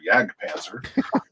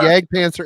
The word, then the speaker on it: Jag Panzer: band which is uh Jag Panzer or yag Panzer whichever way you don't think it is Allan pronoun pronounces it that way he says yag paner and cirth unle which